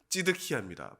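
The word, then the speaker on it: צדקיהו: 히브리어 발음은 찌드키야입니다.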